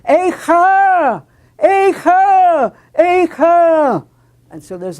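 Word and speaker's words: אֵיכָה: or scream repeated there, but no longer as a monosyllable, eich, but now two syllables, which makes it even more terrible. Eicha!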